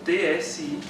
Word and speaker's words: Tsidkenu: Tsidkenu é um nome bem diferente, né, do que nós temos visto, mas ele é escrito T-S-I-D-K-E-N-U. T-S-I-D-K-E-N-U, que a gente pronuncia Tsidkenu.